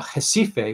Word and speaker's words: Recife: physician in um uh jessife which is spelled recife but pronounced differently uh northeast brazil tropical